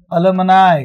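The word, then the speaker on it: alumni: देखो आप अलमनाय, इसका उच्चारण होता है अलमनाय।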